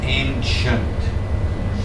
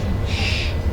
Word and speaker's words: ancient: That word, notice with the c i e n t, it's usually pronounced ancient. Ancient. There's a sh sound there. Ancient Greece.